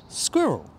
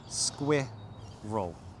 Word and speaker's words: squirrel: Squirrel. Squirrel. There's a few difficult sounds in that word, actually. Yeah. Squir. It helps if you pronounce the k like a g.